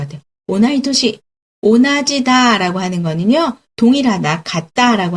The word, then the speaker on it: 同い年: 오나이토시, 오나지다라고 하는 거는요, 동일하다, 같다라고 하는 건데요. 원래 문법대로 하면 오나지토시가 맞는데 동갑일 때만 이렇게 약간 바뀌죠, 발음이. 소리스는 선생님.